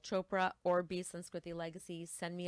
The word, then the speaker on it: Chopra: You can reach me on Instagram at chopra or beansy legacy. Send me a DM and let's spell that for everybody.